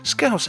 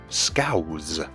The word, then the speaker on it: Scouse: online is that apparently in some overseas countries, Scouse has been pronounced with a Z instead of an S. Scouse. I honestly had no idea that was a thing, because it shouldn't be, because it's wrong.